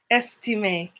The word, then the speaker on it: Estime: Her last name is pronounced Estime. Estime. It's Creole.